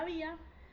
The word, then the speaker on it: había: lo que pasaba es la palabra había tiene tilde en la vocal cerrada y luego está la vocal abierta entonces la forma separada en sílabas es a esa tilde hace que el diptongo se rompa y sean dos sílabas por eso los sílabas distintas por eso no es una palabra aguda sino que es una palabra grave pasa a ser una